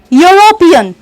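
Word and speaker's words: European: The exact pronunciation of ई यू आर ओ पी ई ए एन इज यूरोपियन. यूरोपियन, यो आ रहा है वहां पर, तो आपको यहां पर ए का यूज करना है.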